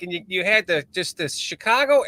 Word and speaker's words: Chicago: this, and you were talking like, and you had just this Chicago accent going while you were talking, and you